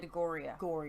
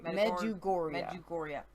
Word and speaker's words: Medjugorje: Just say Gore. It's never Jor. It's always Gore. Like Medjugorje. Medjugorje.